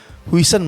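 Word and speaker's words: Huijsen: Wisen bacanya gimana sih? Wisen tuh pronoun-nya Wison aja biasa ya.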